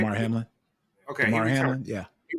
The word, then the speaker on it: Damar Hamlin: Damar Hamlin.